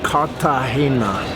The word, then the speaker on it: Cartagena: the hair now it's very important with the pronunciation kata Hema yeah is it G in there but but it's okay so hey how you doing but I'm excited because I've never been to cut the Hana it's on the coast so this is my